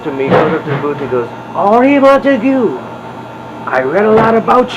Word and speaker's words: Henri Montegut: me, goes up to the booth, and goes, "Henri Montegut, I read a lot about you," and he